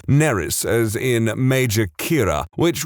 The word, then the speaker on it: Nerys: has the middle name Nerys, as in Major Kira, which would be fine, except that it's spelled exactly the same as a Welsh name, which is pronounced Neris, which is entirely not what I was going for.